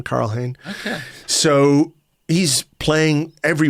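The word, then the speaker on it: Karl Hein: easy way of of doing it is keeping Carl Hayne. Um, our Estonian friends tell me that's how you pronounce his name, Carl Hane.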